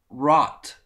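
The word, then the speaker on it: wrought: Rot.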